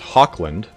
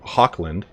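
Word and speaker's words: Hochland: You guys have corrected me on how to pronounce Hawkland, because it's like Loch Ness. So Hawkland is Goblin Bane.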